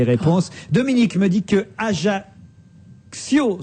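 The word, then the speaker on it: Ajaccio: Dominique me dit que AIO se prononce comme accident et que Bonifacio se prononce comme incident et qui je ne dois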